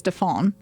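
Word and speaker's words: Dauphin: yeah okay I mean it's spelled like dolphin dolphin but it's defon yeah and uh she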